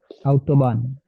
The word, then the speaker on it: Autobahn: And pronunciation of A, take care of it. Autobahn.